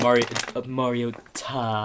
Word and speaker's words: Mariota: No, I'm just saying of the freaking Mariota. That's how you say his name.